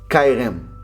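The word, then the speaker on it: חרם: A palavra hebraica para maldição é erem, pronuncia-se cairem.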